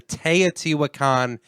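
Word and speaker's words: Teotihuacan: And that's actually how you pronounce the Teatiwakan pyramids.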